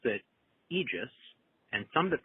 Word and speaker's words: aegis: NBC and BBC and you'll find egis but by the early 2000s maybe the late 9s you can find the Aegis pronunciation show up in Oxford dictionaries and Mariam Webster dictionaries listed as an American pronunciation usually given as the second pronunciation which means it's still not the most common pronunciation now that means it's acceptable but if you have a choice egis is still probably the best one I would say wouldn't